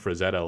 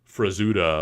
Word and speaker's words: Frazetta: like this all the time he'll call Frank Frazetta like frazuda or Fri like he'll just butcher his name